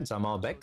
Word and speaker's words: Zamalbek: potential ban Right, that's how we pronounce it, Zamalbek.